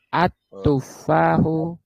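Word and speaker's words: التفاح: Al al at al-nya enggak boleh bunyi. Al-nya masuk ke ta. At tuffahu fahu ladidun.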